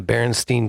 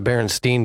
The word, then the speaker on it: Berenstain: just crazy, like the Berenstain Bears. That one blows me away because it's not the Berenstain Bears, it's the Berenstain Bears. So I've been saying it wrong and spelling it wrong and seeing it wrong for how long?